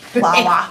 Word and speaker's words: PLAWA: How did you pronounce the acronym? PLAW? Plawa.